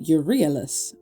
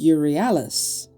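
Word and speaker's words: Euryalus: I pronounced it Urielis, but it's not. It's Urialis.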